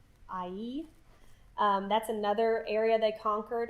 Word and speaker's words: Ai: It's actually pronounced Ai.